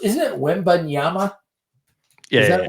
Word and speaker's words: Wembanyama: And I think I mispronounced. Isn't it Wembanyama?